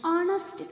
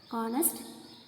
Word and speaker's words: honest: An honest confession. Honest confession. See, honest. Here H is silent. So here comes vowel sound.